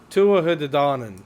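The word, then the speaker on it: Tuatha Dé Danann: or the Tua, I can't pronounce that. It's a I tough try one. so hard. Yeah. Tuatha De Danann.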